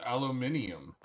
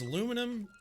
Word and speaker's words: aluminium: Well, it's aluminum, aluminium. Yeah, aluminium is one of the proper pronunciations.